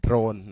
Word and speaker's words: โดรน: ใคร ไม่ รู้ นะ โดรน นะ ออก เสียง ชัด อ อย่า ไป โดน โดน ๆ ไม่ ใช่ โดน นะ ครับ โดรน ออก เสียง เรือ เรือ ด้วย นะ รอ เรือ โดรน นะ ครับ โดรน มัน